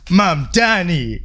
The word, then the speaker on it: Mamdani: The name is Mamdani.